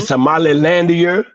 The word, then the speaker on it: Somaliland: But at least say it properly. Like, God, this man said Somalilandia.